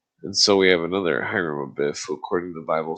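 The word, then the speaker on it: Hiram: The H in hyram which in any case is almost silent is naturally omitted as well. And so we have another hyram who according to the Bible suffered a tragic fate.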